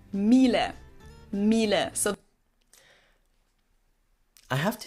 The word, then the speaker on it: Miele: wrong in English, but English native speakers usually say something like Miele, Mila. So it usually sounds more like an A in the end, whereas in German we say Miele, Miele.